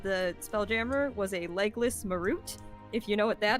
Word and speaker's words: Marut: I thought it was called a merit. We call it a Marut.